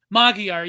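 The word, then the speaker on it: Magyar: My Mag, how do you pronounce his name? Magguire. Magiar. Magiar.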